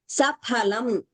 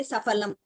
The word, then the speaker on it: saphalam: Saphalam. We should not say safalam. In Hindi, it is fal. In Sanskritam, it is phalam. There is no fa only. Saphalam.